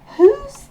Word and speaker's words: who: Le W ne se prononce pas, le H est soufflé, le O se prononce OU, OU long, d'où les deux petits points.